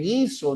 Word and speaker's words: guiso: No hay diptongo en las sílabas que, qui, guiongos ahí porque la u no se pronuncia. Por ejemplo, en Kena no hay dipongo, en Guiso no hay dipongo porque